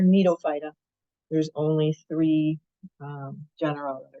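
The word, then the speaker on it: Gnetophyta: So Ginkgophyta, and then Nidophyta, the G is silent on that last name there, Nidophyta.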